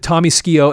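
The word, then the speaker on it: Tommy Skeoch: You've got Tommy Skio. And it's interesting that is how you pronounce his name. Believe it or not, Tommy Skio on the left.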